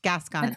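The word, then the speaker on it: Gascón: his name wrong G it reminds me of Beauty and the Beast gason kind of like yeah gas yeah yeah yeah yeah that's how I always remember it um so he so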